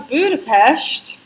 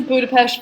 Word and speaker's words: Budapest: What are your plans after Budapest? We got lots of Europe travel plans. Let us get to Budapest first and try and sort out our life.